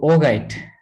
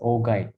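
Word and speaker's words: augite: we'll we'll come to that later okay so oh guide or ogi sometimes it's pronounced as ojit but i prefer pronouncing it as ogi some people pronounce oh guide some people pronounce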